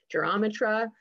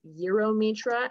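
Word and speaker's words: Gyromitra: I say gyrometra. I've heard people say gyrometra. Another valid pronunciation is gyrometra, and we'll get into why.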